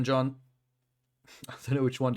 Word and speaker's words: Can: to meet you kenj so in Turkish can is not pronounced can it's pronounced like John that's interesting I don't